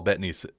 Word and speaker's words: Bettany: like that people paul bettany i think it is betting at least that's how i hear people pronounce it i he kind